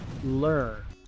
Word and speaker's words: learn: Muchos pronuncian esta palabra learn, pero aquí la E y la A son mudas, learn.